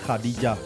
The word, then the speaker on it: Khadija: Les Béninois l'appellent Khadija. La prononciation arabe recommande Khadija.